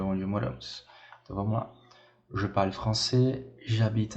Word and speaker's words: je parle: Petite observation, la finale n'est pas prononcée. Então, o final aqui não é pronunciado, tá? O E aqui ele é mudo, não é je parlais, e sim je parle.